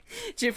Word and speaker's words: GIF: Jif with a soft G.